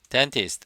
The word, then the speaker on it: dentist: dentist, 치과 의사죠. 근데 얘는 미국 사람이 발음하면 N 다음에 T를 생략해서 dentist 이렇게 발음할 수도 있고 Receptionist.